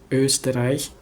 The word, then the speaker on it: Österreich: Nah, terus ada O, Österreich, Österreich, jadi nggak semata-mata jadi O bulat sama Österreich, itu beda ya gitu.